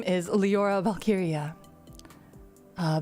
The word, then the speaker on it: Walkyria: is liora valkyria uh valkyria is spelled with a w but in germanic pronunciation w's are spelled with v's but i do not mind if you call me lyra walkiria either walkiria or valkyria either one is okay my birthday my birthday